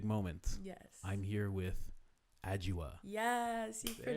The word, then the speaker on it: Adjoa: I'm here with Adjoa. Yes, you There pronounced we go.